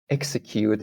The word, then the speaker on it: execute: Execute, it's S, execute, but executive is Z, executive.